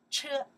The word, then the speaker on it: 车: This character we pronounced that. 车 Yes.